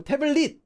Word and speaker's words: 태블릿: This at the end of a syllable, when it doesn't have anything after, gets pronounced as a 디귿 sound because there's no way to pronounce 태블릿 like that. So 태블릿 is how it's pronounced. But there's a reason why it's written like this.